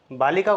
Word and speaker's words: बालिके: किसी आकारांत शब्द को हमने बोलना है, जैसे बालिका को बोलना है लड़की को तो हे बालिके इधर आओ।